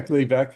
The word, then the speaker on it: Gleevec: Am I pronouncing it correctly? Yeah, Gleevec, yeah.